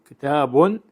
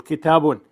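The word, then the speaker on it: كتابٌ: Though written as a double vowel, it is pronounced as a short vowel followed by quiescent noon. This is crucial for scansion. Let us take this example. Kitabun.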